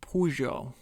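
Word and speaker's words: Peugeot: For August Dorio, that man was Arman Pujo.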